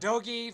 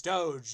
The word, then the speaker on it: Doge: It's not Dogi, Vito. It's never been Dogi. I don't care. And well, Dick's wrong about GIF too. It is GIF, but holy fuck, it's Doge.